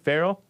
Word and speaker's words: Farrell: You said Farrell? Like Colin Farrell. Okay. Yeah, that it's spelled the same way.